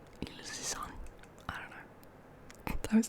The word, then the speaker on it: Ilse Sand: It's by a Danish writer called Ilse Sand. That's the Swedish pronunciation of her name. I don't know how you would pronounce that in Danish. Ilse Sand.